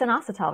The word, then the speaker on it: inositol: We're still not sure of the right pronunciation. Do you know how to say that, Annie? Inositol. Yeah, it's inositol, right?